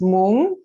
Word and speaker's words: mung: is a mung bean sometimes it's pronounced Moon m-o-o-n-g and because we're trans